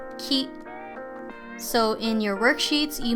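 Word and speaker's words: き: but just know that they are both pronounced key so in your worksheets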